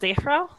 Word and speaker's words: drow: There's Drow, or as Gygax pronounced it, Dro, and he and his friends pronounced it differently. Was it not also pronounced Dehro?